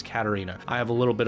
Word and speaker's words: Katerina: I mispronounced your name I was calling you Katrina but it looks like it is Katerina I have a little